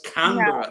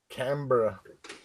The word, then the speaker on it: Canberra: It's Canberra. No. Canberra.